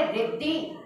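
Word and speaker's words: ऋद्धि: ऋर है वो, ऋर है, ऋषि नहीं है वो। ऋर यानी रिद्धि, उसका उच्चारण आपका रिद्धि है।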